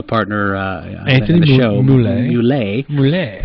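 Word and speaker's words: Mulé: Plus the other thing, and Anthony, or my partner Anthony in the show, Moulet, not Mule, but Moulet. It is spelled M-U-L-E, but with the little thing on the end.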